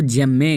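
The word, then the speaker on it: gemmae: कुछ लोग इसको गिम्मे कहते हैं, कुछ लोग इसको जेम्मे कहते हैं, ठीक है। इस बात का ध्यान रखिएगा, डिपेंडिंग अपॉन मदर टंग आप कहाँ से हैं इसी हिसाब से आप इसका प्रोनाउंसिएशन करते हैं।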